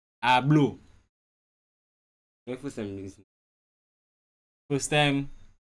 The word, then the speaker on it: ABBLO: How you pronouncing that name? ABBLO. ABBLO.